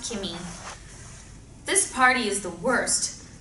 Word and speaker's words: Kimmy: at her name tag it's pronounced Kimmy this party is the